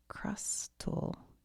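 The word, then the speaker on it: Crustle: Crustal.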